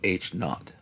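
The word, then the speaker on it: H0: That's how we pronounce the H with the Little 0, H not.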